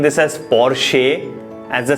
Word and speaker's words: Porsche: It is not Porsche, it is Porsche. Porsche 911. SHUH, ये मान के चलिए कि इसके सेकेंड पार्ट में इस तरह से है. सो the pronunciation of this word will not बी Porsche, it will be Porsche.